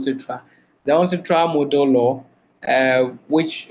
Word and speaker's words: UNCITRAL: So you were trying to pronounce the name. That's why you said the UNCRAS. That is called UNCITRAL.